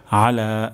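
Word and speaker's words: أعلى: তো এখানে উচ্চারণটি হবে আলা, আইন উচ্চারণ হবে গলার মাঝখান থেকে, আর এখানে হালকা পরিমাণ চাপ আসবে।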